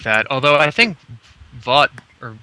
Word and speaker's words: Vogt: Although I think Vaught, or how do you pronounce his name? Stephen Vogt? It's like vote. Like, I'm voting.